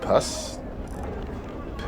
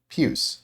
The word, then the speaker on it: puce: As his withered hand pulls away his dirty locks, several strange puss? What the hell? Should learn to read. I won't have to go to how to pronounce Puce.